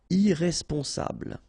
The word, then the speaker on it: irresponsable: Don't pronounce the final E. Bl, bl will be the last sound. Sable. Irresponsable.